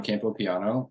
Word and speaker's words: Campopiano: sure yeah so uh my name is Campo piano um and it's smart to have you introduce